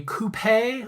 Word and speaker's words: coupe: It's either a coupe or a coupe glass.